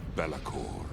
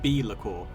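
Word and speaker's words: Be'lakor: the first demon prince bellacor that's actually pronounced be liquor but whatever the world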